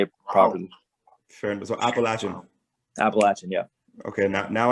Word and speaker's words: Appalachian: with people who go to the school it's pronounced appalachian appalachian okay people people say appalachian which like the mountain range is called the